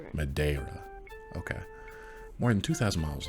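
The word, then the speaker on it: Madeira: How do we pronounce this? The Mada River. Madera. The Mada River. They don't really put the R as much. The Ma River. Madera.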